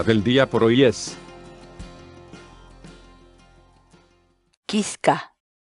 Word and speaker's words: kichka: de videos en la que te enseñamos a pronunciar algunas palabras en quechua. Así que nuestra palabra del día por hoy es Quisca, quisca, quisca, la palabra quechua.